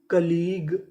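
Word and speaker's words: colleague: कली जी यू ई ग तो पूरी मीनिंग कलीग कलीग कलीग का मतलब होता है साथी या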